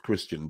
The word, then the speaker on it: Kristian: Which is it? Is it Kristian or Kristian? It's Kristian. It's a man's name.